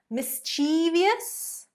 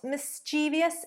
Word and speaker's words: mischievous: Number 7, another word that is often mispronounced. Mischievious. It is not mischievous, it is mischievous.